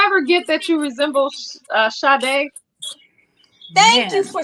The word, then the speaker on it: Sade: So it's not an H, but it is spelled S-A-D-E. Yeah, it's spelled S-A-D-E, but it's pronounced Sade.